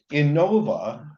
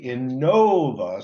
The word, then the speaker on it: Inova: just kidding um so in Nova and I people always ask how do you say that is it Innova is it Inova well it's actually Inova so I sometimes put